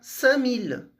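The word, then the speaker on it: cinq mille: Se eu quero falar 5000, eu vou juntar sang com mil e aí vai ficar samil, né? Essa é a pronúncia do sangue.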